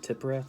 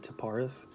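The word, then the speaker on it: Tiphareth: See, I think Damien pronounces it Tipareth. I've always said Taparith. I don't think one's really right or wrong. It's whatever, resonates with you.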